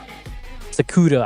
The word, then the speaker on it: Sakuta: I said my name wrong? Sakuta? Sakuta. I mean, I could say the English way. I could say the other way.